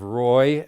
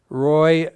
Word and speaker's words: Roi: the 23rd Battalion uh Roy is spelled Roi and namore is n mu are these